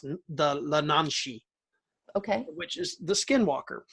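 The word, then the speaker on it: yee naaldlooshii: And the Skinwalker legend is originally from the Navajo tribe, and it's pronounced the Lananshi.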